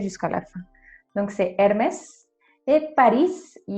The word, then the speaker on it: Hermès: un temps réel seul on va toujours le prononcer jusqu'à la fin donc c'est hermès et parisse il y aura toujours en espagnol